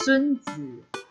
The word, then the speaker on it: Sunzi: Actually it's pronounced Sunzi.